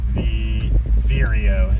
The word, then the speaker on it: vireo: The black-capped Viera is what I'm doing. Black-capped Viera? Vireo is how you say it.